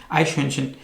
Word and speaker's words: Eichhörnchen: जा सकता है, लेकिन अगर आप इसकी आप स्पेलिंग देखें, IEICHHO उमलाउट RNCHEN, आइशहंशन।